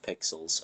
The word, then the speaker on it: PXLS: Yeah, it's pronounced pixels.